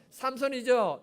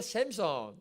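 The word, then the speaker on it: Samson: 삼손이죠. 이거 우리나라 발음이고요, 영어로 샘손 됩니다.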